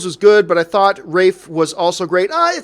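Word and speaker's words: Ralph: it's spelt it's pronounced Rafe and it's spelt it's RAF II but it's pronounced Rafe it's really weird anyway you mentioned ray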